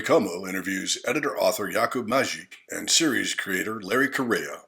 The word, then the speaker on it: Mařík: uh Yakob Merrick. Am I saying your name right? Uh no chance to say it right. We are only nation uses this sound. So Majik Majik.